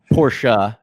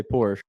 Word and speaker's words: Porsche: I was like all right what's the correct pronunciation pora he's like but but you know most people won't make fun of you say Porsche but the correct the car guys will make